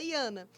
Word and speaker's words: Jaana: É Jana, que escreve com J e fala Iana.